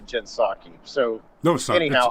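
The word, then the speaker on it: Jen Psaki: i uh i love what jen fosaki and yes i know it's actually jensaki so no sorry anyhow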